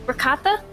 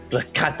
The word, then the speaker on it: Rakata: Like the cheese? What? What is cheese? Ricotta? Rakata. It's spelled not spelled the same. It sounds the same. Rakata, but spelled differently.